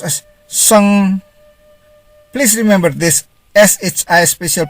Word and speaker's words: sheng: SHEng is pronounced as sung.